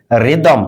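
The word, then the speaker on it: rhythm: Those, দ এর উচ্চারণ করছি। অলদো, টিএইচ এর পরে ও রয়েছে। রিদম, টিএইচ এর পরে এম রয়েছে।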